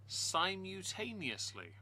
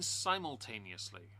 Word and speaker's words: simultaneously: Simutaneously? Do you mean simultaneously? I'm not going to mock someone for how they choose to pronounce a word too much, but simultaneously is is not not the word. There's an L missing.